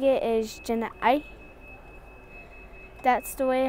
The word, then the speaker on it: ya'íí: Apache language, and the way how I'm saying it is jana'ai.